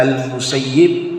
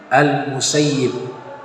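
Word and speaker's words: المسيب: Imam Said Ibnu musayyib bisa dibaca almusayyib bisa juga Dibaca almusayyab tapi yang dipilih kebanyakan ulama al-musayib ya jadi masalah nama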